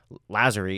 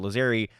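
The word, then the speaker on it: Lazzeri: the segment I realized I got Tony lazer's name wrong I was pronouncing it lazeri I felt it was deeply disrespectful to the Italian Community and while I couldn't go back and re-record every time I said Tony laerie instead of lazeri I just dubbed it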